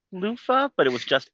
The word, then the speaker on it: Lofa: And then the snow elemental liked to sing and his name was Lofah.